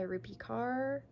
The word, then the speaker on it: Rupi Kaur: This was a very popular book a couple of years ago by Rupi Kaur.